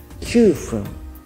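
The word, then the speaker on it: 9分: さっき時間の時には 9 時と言いましたが、分の時は必ず 9 と読みます。9 分です。10 分、10 分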